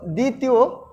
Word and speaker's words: দ্বিতীয়: ত্বক দেখো শিক্ষার্থী বন্ধুরা শব্দের আদ্য বফালা অনুচ্চারিত থাকে তাও দ্বিতীয় দ্বিতীয় এটা কিন্তু আমাদের উচ্চারণ দেখো এখানে কিন্তু কোন ধরনের কোন বর্ণের অর্থাৎ ব এর উচ্চারণটা হয়নি অনুচ্চারিত রয়েছে তারপরে জ্বালা এখানে কিন্তু বর্গীয় জ